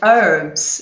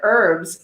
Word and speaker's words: herbs: so it's in because in the u.s. we say it's a silent H for these so yeah